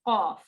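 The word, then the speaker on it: قاف: Now, tell us how you pronounce qaf. The letter Qaf is pronounced when the furthermost part of the tongue touches the opposite portion of the hard palate, blocking the passage of the throat.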